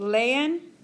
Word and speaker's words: leen: And in Spanish, you pronounce every single sound.